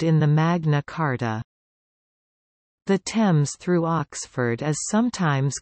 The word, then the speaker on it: Thames: The river's name has always been pronounced with a simple t, t.